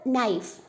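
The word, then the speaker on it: knife: So same for നൈഫ്, K is silent.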